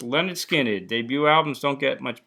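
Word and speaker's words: Lynyrd Skynyrd: How about pronounced Leonard Skinned?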